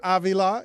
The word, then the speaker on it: Avila: of this guy Robbie Aila is uh I pronounce that with a Latin flourish are you Hispanic do